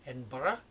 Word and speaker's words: Edinburgh: says Edinburgh but an Edinburgh is how it's pronounced in Scotland and it's one of